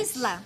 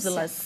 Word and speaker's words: Islas: Isla, tá certa a pronúncia? Islas.